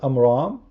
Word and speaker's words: Amram: is the daughter of Omron who's Omron this is the father of Aaron instead of saying I'm wrong because he is copying the Jews you do not know how to say it correctly he said to Imran